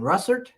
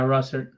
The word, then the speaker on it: Russertt: how do you say your last name Russert yeah Russert hello all righty and of course Sam is